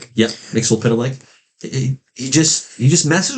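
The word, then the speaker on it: Mxyzptlk: How do you pronounce it? I said Mixel Pitilik. Yep. Mixel Pitilik.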